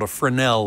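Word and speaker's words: Fresnel: do a special coating on this screen called Afrin L lens spelled F R e s ne L but the ass is not pronounced it's French it's French so basically it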